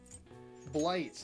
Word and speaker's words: blight: Plant disease rhymes with bite bright. So it's G H T blight.